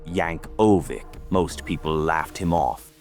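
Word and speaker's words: Yankovic: The guy's name was Weird Al Yanovic, pronounced Yank Oik.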